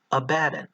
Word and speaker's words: Abaddon: In Hebrew, there is a way to make this D sound appear on both sides of the syllable, Abaddon, with that hard D sound.